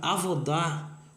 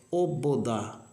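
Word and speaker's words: עֲבוֹדָה: Ou seja, avodar ou... foi o que eu ia entregar ali. A palavra na verdade é obodá. Obodá, tá? É uma palavra desconhecida da maioria das pessoas. Eu estou soltando aqui de primeira mão. Obodá é a palavra que seria a transliteração melhor em hebraico bíblico.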